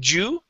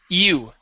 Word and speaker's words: you: Instead of Jew, the word is E-U, you.